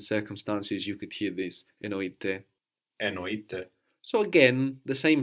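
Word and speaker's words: εννοείται: Enoite, spelled with AI on the end, it is meant, means of course or for sure.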